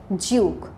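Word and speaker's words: duke: কিন্তু পরেই আছে ডিইউকেই, এটা আবার ইউকে প্রোনাউন্সিয়েশনে দেখবে জিউক, জিউক, ওকে, ডিইউকেই, জিউক। এখানে আবার জয়ের সাউন্ড হবে।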